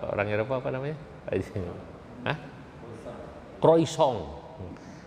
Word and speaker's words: croissant: Croissant. Di sana bilang croissant, dibacanya croissant gitu kan.